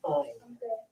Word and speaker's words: Ain: That's the way that's pronounced in Hebrew and Arabic is Ain.